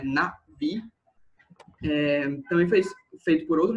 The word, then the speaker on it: Na'vi: assim que pronuncia, tipo, esse tracinho em cima, ele representa uma pausa glotal, que é basicamente esse som que a gente faz quando a gente para de falar automaticamente, então é Na'vi.